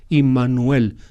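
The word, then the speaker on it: עמנואל: Es decir, Emmanuel. Imuel se dice en hebreo.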